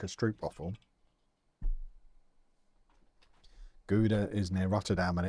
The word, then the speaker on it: Gouda: That G will be a sound my mouth can't do. Stroop waffles are from Guda.